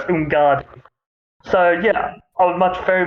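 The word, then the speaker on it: Umgadi: So it's Ungadi.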